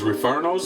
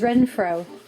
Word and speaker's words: Renfro: here we just love Mrs referno's is that how you say it Mrs Renfro yep it's good stuff got